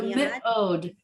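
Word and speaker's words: מאוד: So mi'od. So the aleph has no sound, and then you have the dot. So you're going to say just the o and the d sound at the end.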